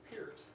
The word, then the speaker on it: Peart: When emulating Peart, I'll say it correctly, what takes priority on your approach to performance, technique, tempo, feel, or composition?